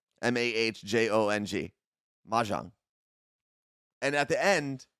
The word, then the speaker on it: Mahjong: is that how you pronounce it that's how it's spelled m-a-h-j-o-n-g Mahjong and at the end if you ever